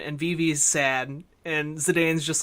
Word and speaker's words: Zidane: my heart when he in how do you pronounce his name Zidane Zidane I think is usually how I've said it